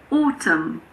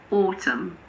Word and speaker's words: autumn: We don't pronounce N if it comes after M at the end of a word. For example, autumn. It's not autumn. It's just autumn.